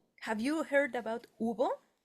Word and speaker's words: hubo: Hub. And we don't pronounce Let me repeat it here. We don't pronounce the H, right? No, it's it's not hub. It's ubo.